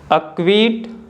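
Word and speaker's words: acquit: के के तुरंत पहले आता है तो सी साइलेंट होता है जैसे कि अ क्वायर अ क्विट आप देख सकते हो कि जो लेटर क्यू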